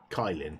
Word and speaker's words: Kylin: I don't think I've ever installed Ubuntu Kylin, which, you know, it's spelled Kylin, but it's actually Kylin.